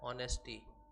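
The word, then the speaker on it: honesty: फिर से वही बात, एच तो है लेकिन इसका उच्चारण क्या आ रहा है? ओ की तरह आ रहा है, ऑनेस्टी।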